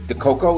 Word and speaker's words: Dikoko: gatsby um today i guess is the coco is that the the one by pronouncing your name right it's exactly that's exactly